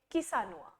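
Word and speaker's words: Chișinău: में इसकी कैपिटल है स्पेल हम इसे करते हैं सी एच आई एस आई एन ए यू लेकिन हम प्रोनाउंस करेंगे किसान तो ध्यान रखेंगे किनुआ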